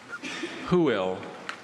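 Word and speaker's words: hwyl: Who will?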